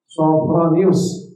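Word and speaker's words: Sophronius: kota alquds pendeta sonus bacanya sofo bukan Sapro ya sofronius mensyaratkan tidak akan menyerahkan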